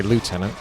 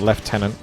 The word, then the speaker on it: lieutenant: regards to left tenon even though I think it makes more sense to say lieutenant because there is no F but for some reason left tenant comes across as the pronounced version that's always confuse me